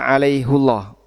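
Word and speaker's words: عَلَيْهُ اللَّهَ: Kalau dibaca hi harusnya gimana bunyinya? Alaihillah. Alaihillah. Kalau dibaca alaihullah ini tafhim sehingga Allah-nya jadi tebal. Allah alaihullah. Kalau dibaca alaihi jadinya jadinya tarkik. Sehingga di situ bacanya jadi tipis alaihillah dan dijaga tafkhim karena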